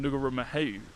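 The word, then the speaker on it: Ngauruhoe: could also see Mount Ngurumohoe, which is how you say what I was saying, Ngurumohoe, yeah, which is Mount Doom, and I couldn't even see that.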